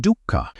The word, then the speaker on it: dukkha: The word is dooka. Say it like duka.